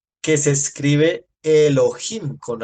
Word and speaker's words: Elohim: tiene esa terminación plural si fuera singular sería solamente el o Elo pero como tiene Im se pronuncia Elohim lo cual quiere decir